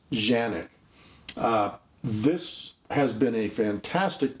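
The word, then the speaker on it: Canik: but believe me it's a turkish company it's pronounced janet this has been a fantastic pistol for me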